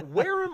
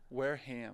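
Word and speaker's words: Wareham: today okay so now weam or weham weham okay that's what I thought the weham gateman yes sir the H is is pronounced yes they say everything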